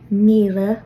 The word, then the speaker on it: míle: And again, notice that after 1 through 6, the word for thousand, Mila, will be lenited to Vila.